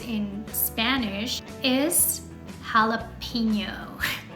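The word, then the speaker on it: jalapeño: mispronounce in Spanish is jalapeno how Rosemary why is this word mispronounced because you're pronouncing the letter E in English e in Spanish it's pronounced a always every time in every single word it doesn't matter if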